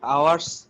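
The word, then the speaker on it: hours: আচ্ছা, আল্ট্রাসাউন্ড তো frequencies higher than 20 kilohertz sir আর আওয়ার্স এই কথাটা তো স্যার এইচ এর উচ্চারণ কিন্তু হয় না স্যার, ওর কথা মনে পড়লো স্যার।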